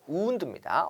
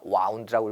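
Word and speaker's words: wound: 점에 비해서요 운도 볼게요 발음 조심하셔야 돼요 우흔두입니다 와운드라고 읽으시면 안 돼요 운드고요 운드는 부상 또는 상처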